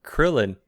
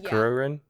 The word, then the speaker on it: Krillin: you get to meet Krillin it's funny reading it cuz I realize how they pronounce things and English is made easier because Krillin versus kururin kururin yeah yeah but English is Krillin what did you think